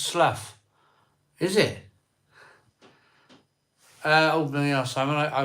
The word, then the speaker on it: Slough: It's pronounced Slough.